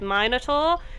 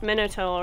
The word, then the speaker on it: minotaur: against the minotaur and i totally pronounced its name wrong and i realized afterwards that i said minotaur it's pronounced minotaur isn't it there we go got it right now so i apologize